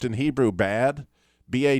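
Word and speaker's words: בד: if you ever knew this but it's actually pronounced in Hebrew bad ba D because it has about Dollard so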